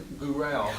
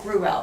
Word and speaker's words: Gruwell: I almost started to say Gruwell. Well, I do pronounce it Gruwell, but I respond to anything.